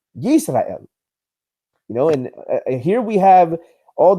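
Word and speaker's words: ישראל: And here we have the example of how this Hebrew phrase was literally pronounced Yisrael. Now, how does the Masoretic text render it, and how is it pronounced? It's pronounced Yisrael.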